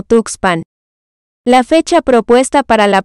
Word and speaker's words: Tuxpan: de la huasteca y usaron el nombre toxpan que quiere decir lugar de conejos y que a la llegada de los españoles pronunciaron como tuxpan la fecha propuesta para